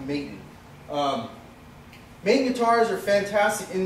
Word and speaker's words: Maton: The name of his guitar was originally Maton, which is now pronounced Maton.